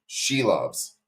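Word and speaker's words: Šilovs: You don't pull a goalie, and I talk shit about Arturo Shelovs, and I'll pronounce his name correct now. Shelovs.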